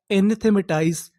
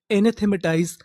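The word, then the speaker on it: anathematize: मैं आपको बता दूं, अगर आपको आखिरी में ई लिखा मिले तो हम लोग ई का उच्चारण नहीं करते।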